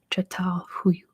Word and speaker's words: Çatalhöyük: And it's pronounced Çatalhöyük.